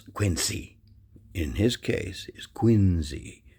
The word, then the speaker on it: Quincy: Now, you notice how I say his name, John Quincy Adams, not Quincy. That's not the way it was pronounced. It was pronounced Quincy, like Quin and then ZE.